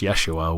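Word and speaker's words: ישוע: In the Hebrew, it's pronounced Yeshua, which translates into English as Joshua.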